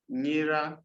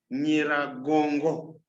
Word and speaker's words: Nyiragongo: Nyiragongo. The mountain is pronounced as Mount Nyiragongo. Nyiragongo.